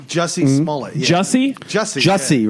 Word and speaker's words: Jussie: Jussie? Jussie, right? Jussie. Like that's not a fucking acting name. Yeah, That's it rhymes with pussy.